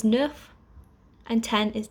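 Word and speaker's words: neuf: set eight is wheat nine is nuff and ten is dece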